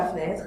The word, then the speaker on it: fenêtre: Et enfin, dans « Il est debout devant la fenêtre », là je fais tomber tous les E muets.